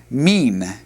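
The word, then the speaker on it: מן: The word from is pronounced mean.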